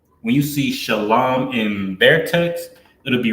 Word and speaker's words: Shalam: The original is shalam, sha, la, and ma.